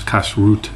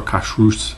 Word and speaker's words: kashrut: in hebrew for kosher which is kasrut or kashrus depending on how you pronounce it as an ashkenaz or a sephardic jew uh kosher kashrut is